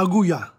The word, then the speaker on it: aguja: Needle, la aguja. La aguja. La aguja. La aguja. Needle, la aguja. It's with a J there, so the J is pronounced H.